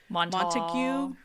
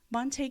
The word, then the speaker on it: Montague: the name and you think it would be pronounced Montague like Romeo and Juliet Montague and caplets but no no this is Texas where nothing is pronounced as it would seem Monte county is in north Texas right on the